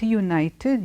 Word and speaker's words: United: is coming in though the word is United the sound coming in is not a vowel sound is a year sound coming in like we